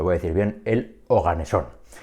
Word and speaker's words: oganesón: a decir bien el oganesón y el oganesón hay que decirlo así con acento en la O con tilde porque pues los nombres